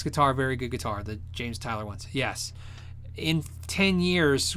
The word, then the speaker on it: James Tyler: you ever tried a James Taylor variax it's uh James Tyler right James Tyler variax guitar I'm saying it wrong you're saying it right if so Korean made